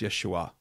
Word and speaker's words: Yeshua: human name is Jesus actually I say his human name is Yeshua that that would really be more of the Hebrew pronunciation the Jesus is called